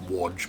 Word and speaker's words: Wadge: Apparently it's pronounced Wadge, but I don't care. I'm going to pronounce it the Australian way.